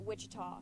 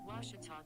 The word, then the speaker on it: Ouachita: washi at baptist university back in texas everybody pronounces it wichita but really it's ouachita washington washington how would you pronounce it it's washita baptist university get it right it's watertall people